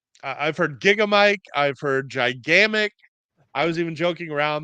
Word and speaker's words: Gigamic: It is not Gigamic, that French publisher that's Gigamic, who published Loot. It's Mhm. Gigamic. That is It's French.